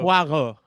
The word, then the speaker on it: Poirot: It's kind of like, I think it's pronounced Poirot. Is it? Yeah. Are you being serious? I actually don't know, because I don't know how it's pronounced. It's Poirot, isn't it? Okay, good. It needs to be Hercule de Poirot. Okay, It would be more like cool. Poirot, but Okay. Poirot with a little r.